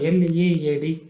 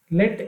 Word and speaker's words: lead: Similarly the word L-E-A-D, it rhymes with the word ಹೆಡ್, H-E-A-D, ಹೆಡ್, lead. Lead is a type of metal. Look at another word, L-E-A-D, rhymes with the word seed, lead.